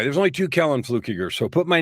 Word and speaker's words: Fluckiger: only two kell and fluke eager so put my name in anywhere be sure you spell it right and say it right because the other way of saying it is fighting words funny because i was